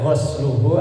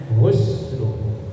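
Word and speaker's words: غسله: Kalau itu dibaca gosluhu artinya mencuci. Mencuci memandikan kan beda ya. Kalau dibaca husluhu artinya memandikannya. Tapi kalau gosluhu artinya mencuci maka bacanya husluhu.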